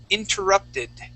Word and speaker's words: interrupted: The word is interrupted. Interrupted. Okay. Yeah. Give me an id sound at the end.